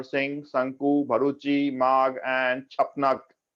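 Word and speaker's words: क्षपणक: अभी कालिदास, आर्यभट्ट, धन्वंतरी, वारामिहिर, अमर सिंह, शंकु, भरूची, माघ एंड छपनक। छपनक में एक के साइलेंट है।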